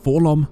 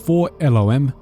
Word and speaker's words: 4-LOM: As you can see from this panel, it is pronounced 4 elloem, but 4-lom sounds much better.